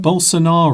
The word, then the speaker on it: Bolsonaro: So it would appear that balance what's the what's the other guys that I always mispronounce his name, the whole scenario Bolsonaro.